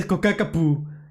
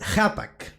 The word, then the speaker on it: Ccapac: And some people say Kokakapu. It's not Kokakapu. It's pronounced Hapak.